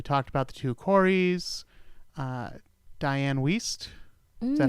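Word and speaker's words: Dianne Wiest: Diane Weiss.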